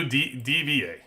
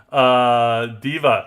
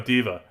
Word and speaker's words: D.Va: And that is they give 4 mythics to DVA, right?